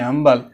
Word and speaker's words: humble: तो इसका अपोजिट अम्बल, एच साइलेंट रहेगा, HUMBLE, हम्बल।